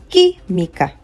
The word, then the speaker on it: química: Now, the next one is química. Química, not química. Química. Because of the UI, I will not pronounce the U.